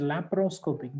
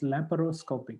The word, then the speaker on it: laparoscopic: The next one is laparoscopic. The way we pronounce sounds like it doesn't have any A after P or before R. But the way we have to write them down is laparoscopic.